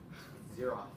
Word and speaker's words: Zeroth: It's not zero with Zeroth. Zeroth. You pronounce it wrong. Hero. Like Xerox. Xerox. Is that even like an illegit word like Zero.